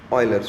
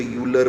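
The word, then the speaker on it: Euler: Spelling तो ये है कि बच्चे उसको यूलर बोलते हैं, बट ये यूलर वूलर कुछ नहीं है, इट्स a Swiss name ऑयलर। तो मैंने यहाँ पे लिखा भी हुआ है कि इसको प्रोनाउंस करना ऑयलर है, ये स्पेलिंग यूलर, लेकिन बोलते समय ऑयलर बोलना है।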